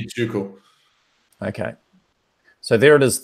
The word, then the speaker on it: Tycho: Tycho. Tycho? Tuco. Tycho, Tuco. That's one way. I mean, the correct pronunciation would be Tuco.